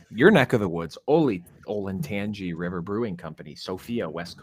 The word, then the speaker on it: Olentangy: I want to smack patients who call it the Olentangy River. It's Olentangy.